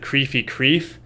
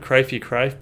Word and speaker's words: Crifey Crife: You said Creefy Creef instead of Crifey Crife, but whatever.